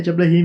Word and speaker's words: Diablerie: Não, é Diablerie mesmo.